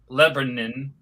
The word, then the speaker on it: Lebanon: When the Mustang pulls in the package store in Lebanon, Tennessee, locally pronounced Lebanon, by the way, the signs advertise liquor and beer.